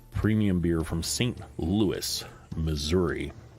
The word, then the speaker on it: Missouri: Louis Missouri or missourah as I've heard some people pronounce it which I don't know how you get the letter I to sound like ah if you can explain